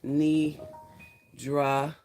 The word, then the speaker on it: Nidra: But for anyone that's new, I'm Nidra, pronounced Nidra. I like you dragging the A out.